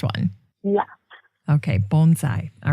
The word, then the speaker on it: bonsai: So we're getting the last syllable correct. We're messing up on the first one. Yeah. Okay, bonsai.